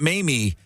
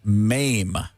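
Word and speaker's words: Maim: This is also not Mamie, but Mame, and it's spelled M-A-I-M.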